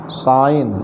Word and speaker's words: sign: फिर साइन SIGN, यहाँ जी के तुरंत बाद यन आया है, इसलिए जी का उच्चारण नहीं हुआ, सीधे हो गया साइन।